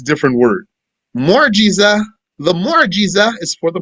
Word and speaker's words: mu'jiza: Mu'jiza, the mu'jiza is for the prophets. And the karama is for the saints. What's the mu'jiza? The mu'jiza is the crippler. We translate it as miracle. What's this mu'jiza that we translate as miracle?